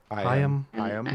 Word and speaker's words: Higham: a link in the show notes to Michael Higham. Is that how you pronounce it? I've never known. Hyam? Hyam.